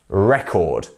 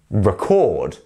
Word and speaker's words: record: player you see and the way that we say it is record record do you see how the stress is on the re re record record exactly and then our verb form for this word is record record to record you see the stress is on that chord part of the word so record so if